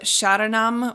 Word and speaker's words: sharanam: we have the word sharanam which is s-h-a-r-a-n-a-m sharanam um the r almost sounds like a D sound but don't worry about